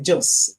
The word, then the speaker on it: Jos: Is it Jos or Yos, or how do you pronounce that? It's Jos.